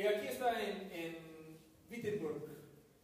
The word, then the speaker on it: Wittenberg: Así lo decimos con V o V y no de W, aunque se escribe con W, es que en alemán se pronuncia con V, aunque dice Wittenberg, es Wittenberg. Igual cuando decimos, bueno, Worms es Worms. Por eso busco pues, pronunciarlo bien. Aunque no hablo alemán, pues así se dice.